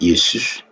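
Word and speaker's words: Iesus: retirer le haut mais ils ont maintenu la même prononciation yesous en c'estous en latin c'est yesus et en anglais c'est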